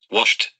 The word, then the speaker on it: washed: the pronunciation is loft when the ending is s h s h here you have the sound a a the pronunciation is washed washed it's not washed the